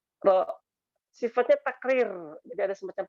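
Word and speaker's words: ر: Itu dengan cara menyentuh, menempel di langit-langit lidah kita, ya. Jadi sekali lagi ya, nanti sambil dirasakan ya, sambil dirasakan nanti. Ya, lidah terdekat di sini itu disentuhkan, ditempelkan ke langit-langit mulut kita, langit-langit ya, langit-langit rongga mulut kita itu. Jadi seperti ini bunyinya. Ro, ro.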